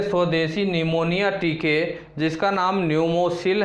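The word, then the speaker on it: Pneumosil: अगली जानकारी साथियों है डॉक्टर हर्षवर्धन भारत के पहले स्वदेशी निमोनिया टीके स्वदेशी निमोनिया टीके जिसका नाम है साथियों न्यूमोसिल। प्रोनाउंसिएशन और लिखने में अंतर है साथियों, ठीक।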